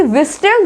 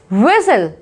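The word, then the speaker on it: whistle: विस्टल, सीटी बजाना यानी कि विस्टल, विस्टल नो, इसे पढ़ेंगे विसल, विस्लिंग, विसल।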